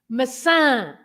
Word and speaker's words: maçã: The tilde on the last A makes the word stressed on that part of the word, the last part. Okay. So it should be maçã, right?